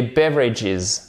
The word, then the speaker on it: beverages: Ensuite, les drinks, c'est la même chose que les beverages. Beverages, mais attention, beverages, OK? Beverages, drinks, beverages. Vous mettez bien l'accent tonique ici.